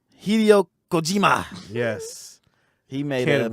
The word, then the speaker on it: Hideo Kojima: Hideo Kojima. Hideo Kojima. Hideo Kojima.